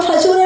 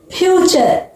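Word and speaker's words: future: पर देखिए दूसरा फूरे नहीं पढ़ेंगे आप लोग फूरे नहीं पढ़ोगे इसको इसको क्या बोलोगे फ्यूचर फ्यूचर यहां पर क्या पढ़ोगे बच्चों नचरे नहीं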